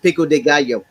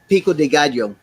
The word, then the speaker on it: pico de gallo: own rules i think i think it's pronounced pico de gallo say it again pico de gallo i can't do that